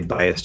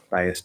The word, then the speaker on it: biased: opinion okay bias the biased opinion biased stuff now the s isn't going to let us flap the d um but when t links to a vowel it wants to become a flat d and so it will